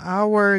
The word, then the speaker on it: hour: kan gitu kan Nah kita memperhatikan pengucapannya our ini ketika diucapkan haknya itu kanak enggak diucapkan kan gitu jadi jadi terdengarnya adalah hour gitu loh di mana our ini adalah e terdengar suara vokal gitu kan jadi Itulah kenapa